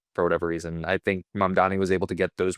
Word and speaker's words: Mamdani: Mambani, the election? Mamdani. Yeah, no one can pronounce his name.